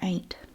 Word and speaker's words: aunt: A-U-N-T. Some people pronounce it aunt, but in my dialect where I grew up, we said aunt or ain't. It just depended.